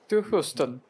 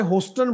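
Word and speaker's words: Houston: Beijing और आगे ू ह्यूस्टन ह्यूस्टन ह्यूस्टन ह्यूस्टन सो बहुत सारे लोग हमारे हस्टन बोल देते हैं इसको अच्छा जी आगे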